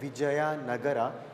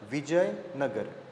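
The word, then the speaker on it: Vijayanagara: means uh the city it is not to be pronounced as Vijaya nagara it has to be pronounced as Vijay nagar okay though it is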